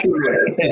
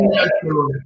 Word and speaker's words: Nyachulue: Is it Nyachulue? Yes, Nyachulue. Okay. Nyachulue. Yeah, that's the right pronunciation.